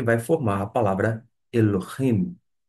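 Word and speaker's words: אֱלֹהִים: vai formar e vai fazer aquela junção de sílabas E vai formar a palavra Elohim E por falar em lo Note que nós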